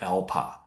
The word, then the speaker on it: ELPA: That's the abbreviation we use. We pronounce like ELPA. So, and then further, the system will ask you to indicate your focus area.